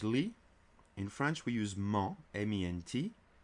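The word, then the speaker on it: -ment: In French we use ment, M-E-N-T. The en sound is made by the E and the N together. En, and the T is silent, always.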